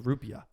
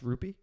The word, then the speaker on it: rupiah: as the rupee the well it's called the rupiah oh but is it still is it pronounced rupee this is the currency of india indonesian indonesian